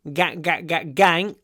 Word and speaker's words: gang: Gang. The most important thing when you pronounce this word, open your mouth.